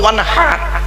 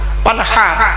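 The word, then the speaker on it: وَانْحَرْ: ওয়ানহার, ওয়ানহার, এই গলার ভেতর থেকে এটা উচ্চারণ হবে, হাই ওটি, হাই হাওয়াজ নয়।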